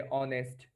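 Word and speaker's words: honest: ব্যাপারটা তো জানি, যে অনেস্ট, অনার, আওয়ার, এর, মানে কি তোমার উত্তরাধিকার। তো এদের উচ্চারণে এইচটা কিন্তু সাইলেন্ট থাকে, দ্যাটস ওয়াই এদের আগে এ না বসে এন বসে।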